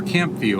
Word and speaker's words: CampVue: But every other one I was able to get to and I documented it for Camp View, our other do a plug here. It's a YouTube channel. It's spelled C A M P V U E.